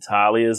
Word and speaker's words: Talia: I love the fact that Talia's in it, because, again, for anyone who doesn't